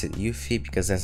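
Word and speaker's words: UEFI: motherboard to the latest UV we're going to pronounce it ufe because that's how Google site is pronounced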